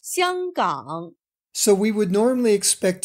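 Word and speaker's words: 香港: In standard Mandarin, the name is pronounced Xianggang.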